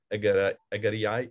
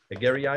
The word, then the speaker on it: Egeria: and the Journey of Egeriai. Is how do you pronounce it? Egeriai? Well, I think it's Egeria.